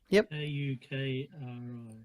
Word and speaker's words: kukri: I don't know how to spell it. K-U-K-R-I.